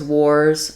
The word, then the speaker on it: wars: For these two words, wars versus worse, just being aware that the difference is wars has the OR and the Z sound, and worse has the ER or and the S sound.